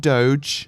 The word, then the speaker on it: Doge: few years before like Doge which I'm not gonna call dodge dodge I think that's frankly disgraceful thank you pronounce it Doge don't put pineapples on